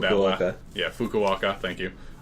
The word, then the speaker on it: Fukuoka: be taking place in Tokyo, Nagoya, Osaka, and Fukuoka. I butchered that one. Yeah, Fukuoka.